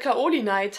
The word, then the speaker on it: Kaolinite: Also ich glaube, das L stimmt wirklich. Also das war, glaube ich, halt damals im Deutschen falsch. Aber es müsste halt Kaolinite heißen.